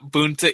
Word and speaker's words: Boonta: because the plot is the is it the Boonta is am I saying it right jack oh yeah Boonta Eve classic now it's a cool looking card